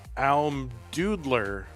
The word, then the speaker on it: Almdudler: Almdudler.